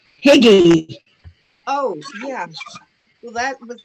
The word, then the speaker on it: Hygge: based, and they at convention they called it Huga.